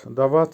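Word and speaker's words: дать: করা বা স্টাডি করা ভার্ব দা ভাত দাঁত দাঁত এর বাংলা হবে দেওয়া বা গিভ আবারো বলছি উচ্চারণ হবে দাঁত দেওয়া বা গিভ ভার্ব গাতভিচ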